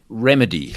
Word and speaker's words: RemiDe: Um, remedy. Let's just talk about remedy. That's spelled re e m i d e.